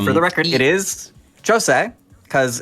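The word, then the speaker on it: José: And for the record, it is Jose, because it's the Portuguese pronunciation, Portuguese Brazilian.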